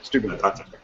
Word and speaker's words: Steubenville: Whereas if you look in this country, well, let's say Steubenville, is that how you pronounce it? Yeah, Steubenville.